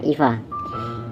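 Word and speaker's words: EVE: robot itu bernama Eva di sini tulisannya Ify ya kita bacanya Ifa Ifa ditugaskan untuk mencari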